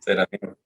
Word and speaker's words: Serafinof: Me disculpa si lo pronuncio mal. ¿Serafinov o cómo es? Serafinov.